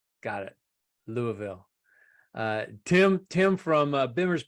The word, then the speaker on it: Louisville: paser robas California and uh yes the S is silent Louisville got it Louisville uh Tim Tim from Bimmer PhD Motorsports Pasadena